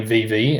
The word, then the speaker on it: VeVe: and that's what stuck do you prefer the pronunciation vivi or vive it's always been vv and it used to be separated with a hyphen um v e hyphen v e uh which probably made it easier to pronounce um but we we